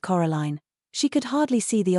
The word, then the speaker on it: Coraline: They got your name wrong, you know. They kept saying Coraline. Not Caroline. Not Caroline at all.